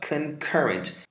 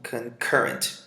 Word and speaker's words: concurrent: Olha só, concurrent. Esse pontinho aqui indica que essa sílaba é mais forte. Então, concurrent, que significa happening or existing at the same time.